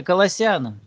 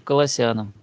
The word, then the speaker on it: Колоссянам: На второй О ударение. Ну, не знаю. Может, оно и правильно. Как привыкли называть, я не знаю. Но я чаще всего слышу Колоссянам. Давайте называть Колоссянам.